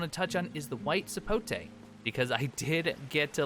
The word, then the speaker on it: white sapote: One thing that I do want to touch on is the white sapote, because I did get a little bit tongue-tied over the correct pronunciation, so you know what?